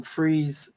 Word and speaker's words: Fries: it's in it's in freeze freeze um it's called Freeze but they spell it spelled like fries but it's called freeze freeze Virginia you know I just